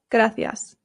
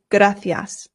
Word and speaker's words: gracias: And here in Spain, they pronounce the C's with a th sound f. So this becomes gracias.